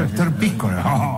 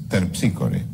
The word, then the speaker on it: Terpsícore: Esther Píscore. Basta, Esther Píscore. Esther Píscore, dijo. No dije Esther. ¿Cómo que no dije? Dije, es... Terpsícore. Ah, es Terpícore. Esa es la pronunciación griega, claro.